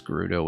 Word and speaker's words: Gerudo: think was standardized that it's Gerudo with a hard G. And I still had to adjust to that sometimes. Because I'm so used to the idea that G before E is a soft G.